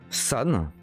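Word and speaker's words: 三: Ensuite, San 3.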